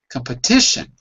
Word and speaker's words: competition: just the pup and with a calm you don't really have to stay calm you could just say come come / competition if you say it fast competition sounds perfectly normal competition although it's also